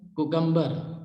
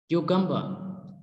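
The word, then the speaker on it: cucumber: Then another word is कुकम्बर. कुकम्बर इज मिसप्रोनाउंस्ड, correct pronunciation is क्यूकम्बर, क्यूकम्बर, क्यूकम्बर.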